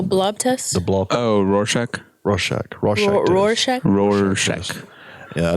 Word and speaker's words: Rorschach: Like when I did that test, I can never pronounce what's it called? What? The blob test? The blob. Oh, Rorschach.